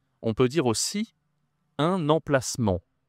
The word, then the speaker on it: emplacement: On peut dire aussi un emplacement. Alors attention ici tu as deux nasales 1 emplacement en fait. Il y a en ici et il y a ici.